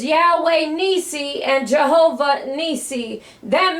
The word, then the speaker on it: Yahweh: or yhw ni and yhwh is pronounced Yahweh if you ever heard God's Divine name Yahweh it is yhwh and it's Yahweh ni and Jehovah ni